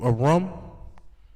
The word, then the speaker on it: Aram: Okay, the Hebrew abbreviation of Aram will look like this. I could, let me see. It's spelled more so like this.